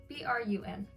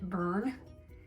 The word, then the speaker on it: brun: Is it even brun? Yeah, it's brun. B-R-U-N, brun. I'm not gonna see. For a second I was like, wait, is it burn? Am I saying it wrong?